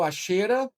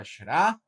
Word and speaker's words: Asherah: O termo Axera, a forma mais correta da pronúncia na hebraica é Asherah, é recorrente na Bíblia.